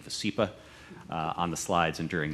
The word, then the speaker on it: Vascepa: Just for pronunciation purposes, we're saying VASCEPA on the slides and during the meeting.